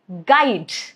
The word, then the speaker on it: guide: For example, guess, guide, guilt, all of these three. As you can see, letter U is right after letter G. So U is not pronounced. G is going to take care of it.